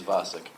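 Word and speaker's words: Vacek: Tom V, is it V-A-C-E-K? Yeah, that's how you spell it. No, saying it is Vasek.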